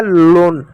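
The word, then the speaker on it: loan: पे एक शब्द है एल ओ एन एल का ल पढ़ेंगे ओ ए का ओ की मात्रा पढ़ेंगे न का एन का न पढ़ेंगे हो गया लोन ठीक उसी प्रकार दोस्तों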